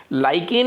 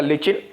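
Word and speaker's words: lichen: लाइकेन एक, या लिचिन, लाइकेन लिचिन अलग अलग प्रोनाउंसिएशन है बोलने का, लाइकेन बोल दो, लिचिन बोल दो।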